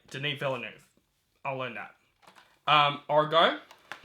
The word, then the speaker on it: Villeneuve: arrival Disney villanov that's his name not Dennis villene like I said for most of my videos it's the new Villeneuve only time I'm gonna say it's name right thank God I say his name right Denine Villeneuve I'll learn that um Argo or for Christmas